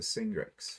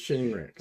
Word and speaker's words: Shingrix: I got the Singrix. Shingrix. So. Says Singrix. Yeah, I know it's spelled wrong. Oh, fine. Okay, never mind. Then it's not Mackel. It's Shingrix.